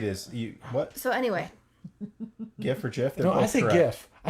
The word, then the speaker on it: GIF: gif i say gif i say gif sorry oh god kathy says jeff kathy says jiff because i'm like it's not spelled like jitter jeffy is peanut butter thank you no but that was the joke it was originally called jiff because it was choosy programmers use gifs okay cheesy programmers use